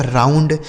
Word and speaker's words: round: ROUND, आर से हो गया दोस्तों र, इस ओ और यू का उच्चारण आऊ, एन से आधा ना, डी से ड, यह लिखा गया आपका राउंड।